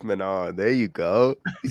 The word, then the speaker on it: Manon: Let's move on to Manion Fiore. it. What? Manon? It's Manon.